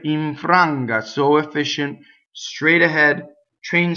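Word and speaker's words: infranga: So notice that the second N assimilates into the G with the middle of the tongue.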